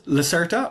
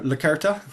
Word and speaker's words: Lacerta: Here's Lacerta or Lacerta, depending on how you like to pronounce it.